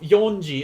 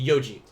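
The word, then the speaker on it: 四時: a number has changed so instead of yonji it's gonna be yoji now five o'clock uh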